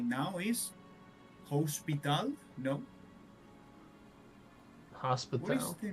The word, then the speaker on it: hospital: The difference is hospital. In Spanish is hospital. The th it's mute. You know, hospital. Mm-hmm. No pronounce the h.